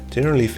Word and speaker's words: Generalife: Okay, confirmed. Generalife. It's not general life.